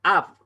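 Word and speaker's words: אב: Entonces, un ejemplo de A larga la tenemos en la palabra Av, ¿ya? Av es, ahí tenemos una kamatz, ¿cierto? Gadol.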